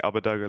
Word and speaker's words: Abbedagge: When I first made it myself, I was just saying Abbedagge, like it's the German pronoun, and then like people